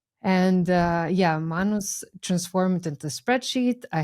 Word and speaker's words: Manus: impossible to work with and uh I used Manus. Manos. Okay. How do you spell that?